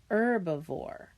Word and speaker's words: herbivore: And then the words that are all or the syllable that is all caps, that's the one that you stress. Okay, so it would be herbivore.